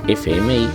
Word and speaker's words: FM: que la integran ejemplo la sigla de frecuencia modulada se escribe FM pero se lee F m las siglas mixtas con